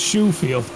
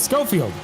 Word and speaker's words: Schofield: Our other commentator that comes in here, Ron, he pronounced him as Shoefield. I remember seeing that. I just had to give him some crap. I think it's kind of funny. But it's Schofield.